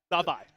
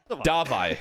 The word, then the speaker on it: Davi: behind these guys say one more time Jordan. Davi. Dvi. Davi. Davi. That is how you pronounce.